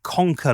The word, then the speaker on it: KONKR: That name Conquer, it's a strange one for me. It's spelled like a new brand of Swedish flatpack furniture makers, but Conquer to me reminds me of my childhood.